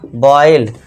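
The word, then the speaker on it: boil: इसी तरह देखिए थर्ड, जब ओ आई आए तो ओ आई को ओ आई से पढ़ें। ओ आई आ गया तो बी के लिए बा कर दिया, बॉय, ई, ल, एल के लिए ला, तो ये हो गया बॉयल, वाई का साउंड देना, बॉयल, सॉइल, कॉइल, बी ओ आई एल, एस ओ। इसमें देखिए बस आपको ऑय का साउंड देना है, ये थोड़ा ध्यान देना है।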